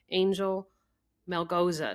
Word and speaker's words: Angel Melgoza: Um, first I'd like to introduce our guest who is the director of financial planning at your financial pharmacist, Angel Mel Goza. Did I pronounce that all right, Angel?